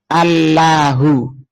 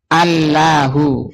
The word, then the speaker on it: الله: i-nya itu dihilangi menjadi Allahu kalau ada apa-apa enak kalau ini cuma bayangkan aja Antum ya Allahu kemudian dibaca tebal Allah dalam rangka tafhim n kalau orang Nasrani membacanya Allah tapi itu yang salah Allah itu bukan ini